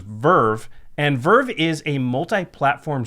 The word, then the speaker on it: VRV: to you by V R V which is pronounced Verve and Verve is a multi-platform streaming service that's